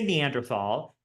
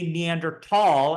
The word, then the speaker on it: Neandertal: to tall right so don't say Neanderthal don't spell it Neanderthal say Neanderthal and spell it without the H unless you're saying the